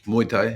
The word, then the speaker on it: Muay Thai: I have a son who lives in London who is very interested in Mai Tai. Is that how you pronounce it? Yeah, Muay Thai.